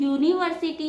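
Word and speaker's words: university: ये तो यू से स्टार्ट होता है। बट इसका प्रोनंसिएशन यूनिवर्सिटी है। य से इसका प्रोनंसिएशन होता है।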